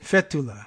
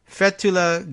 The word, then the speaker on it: Fethullah: Fethullah, I guess, would be the emphasis on the first syllable.